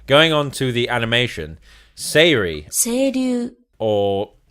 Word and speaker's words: Seiryu: Seiryu. Or how was it everyone insisted? Seiryu? It's Seiryu. That's how it's spelled.